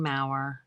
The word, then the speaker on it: Mau: But her business name is Be Again books, but on YouTube it is Kathleen Mau rhymes with flower.